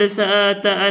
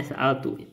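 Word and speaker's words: سألتُ: Kelihatannya domirnya jangan gitu, kita bacanya sa'atu. Amma wallahi, kita baca wasa'atu lebih bagus itu kalau dibaca. Demi Allah, laqad sa'atu anha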